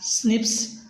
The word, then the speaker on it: SNP: single base dna differences snps single nucleotide polymorphisms pronounced as snips occur in humans there are 23 pairs of